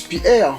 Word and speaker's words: π'R: dit gpr comme ça qu'on prononce pierre c'est sa totalité pierre